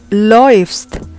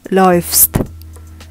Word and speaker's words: läufst: Nah, di sini ada perubahan pengucapan. Selain perubahan huruf vokalnya dari A jadi AU, kalau kalian belum nonton video aku tentang diftong, kalian wajib nonton itu dulu. A umlaut dan U dibaca OI.